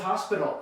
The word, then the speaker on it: hospital: And then here we go with hospital. El hospital, it's at the very end.